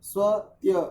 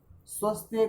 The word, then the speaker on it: स्वस्त्य: श्रेष्ठा के पश्चात रेकन रे स्वत्य स्वत्य स्व नहीं नहीं ध्यान से समझो स्वस्त्य क्यों कर रहे हो